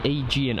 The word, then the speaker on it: Aegean: And Ollie Head saying it's pronounced Aegean.